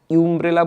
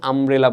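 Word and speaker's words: umbrella: আমব্রেলার উচ্চারণ কি? ইউ এর মত হচ্ছে আমরা কি? ইউম্রেলা বলি। ইউম্রেলা বলি না বলি না। আমরা কি আমব্রেলা বলি? আমব্রেলা।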